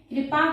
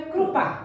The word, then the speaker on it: कृपा: English में आई लग रहा है, यानी ई उच्चारण निकल रहा है, कृपा, तो ई उच्चारण निकल।